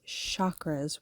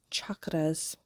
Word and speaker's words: chakra: um people pronounce it chakras with a like it's sh but that CH is really supposed to be ch um like we normally pronounce CH I don't know why